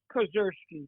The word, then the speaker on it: Kozerski: Yeah, Bruce Kozerski, just like it reads.